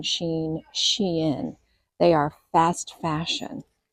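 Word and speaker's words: Shein: stores and I just looked up how to pronounce this but it says Shen s he i n we've called it Shane Sheen Shen they are fast fashion and this feels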